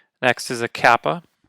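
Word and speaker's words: κάππα: e next is a Kappa makes a k sound very similar obviously to the English k a ah Yota Kappa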